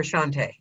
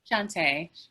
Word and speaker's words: Shantae: Is it Shantae or Shantae? Shantae. Shantae. Accent on the E at the end.